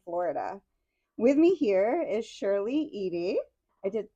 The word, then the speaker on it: Shirley Eady: With me here is Shirley Edy. I did pronounce that right.